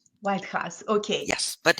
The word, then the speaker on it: Waidhas: you for having me it's pronounced white house white house okay yes but it's